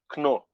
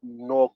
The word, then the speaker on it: Knorr: The same thing with a brand called um, Knorr. Knorr is a seasoning cube. It's spelled Knor. In Nigeria, we call it Knorr cube. We drop the K because combining K and N is pretty weird.